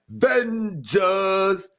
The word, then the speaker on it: VENJAHS: Hey, when you say it, you got to say it like that. VENJAHS.